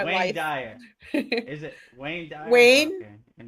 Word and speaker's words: Dyer: Whoever that is out there, Dyer. Dwayne Dwire. Now it's stuck in my head. I know. I can't say it right. To save my life. Dyer. Is it Wayne Dyer?